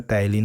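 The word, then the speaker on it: ptyalin: P इसमें silent होता है, टाइलिन हो जाता है, ठीक है, ठीक है।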